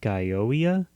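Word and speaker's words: Gioia: of music by Ted I want to say it's pronounced guoa it's g i o i a it's a weird spelling and then for the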